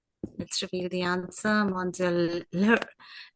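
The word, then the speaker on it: Lheureux: Mademoiselle Leroux. The audiobook narrator kept saying Leroux. Leroux? This is how you pronounce it.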